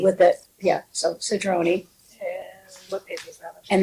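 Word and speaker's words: Cedrone: Just so the only thing is I believe um Nan Pastor Julie it's Sedroni, right? Sedroni. C E D R O N E with it. Yeah. So Sedroni, what page is that?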